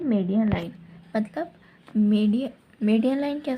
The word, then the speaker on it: median: मीडियन line, इसको अच्छे से प्रोनाउंस करना. मीडियन line, not मीडियल.